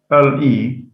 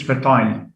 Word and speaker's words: fertile: ITY, fertile, fertile, FERTILE. In British, it's fertile. In American, fertile.